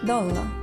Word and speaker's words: dolla: The stress always falls on the first syllable, for example, dolla.